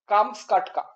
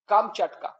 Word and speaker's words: কামচাটকা: কাছের নরম মিষ্টি অংশ কামসকাটকা প্রকৃত উচ্চারণ কামচাটকা কামচাটকা রাশিয়ার অন্তর্গত সাইবেরিয়ার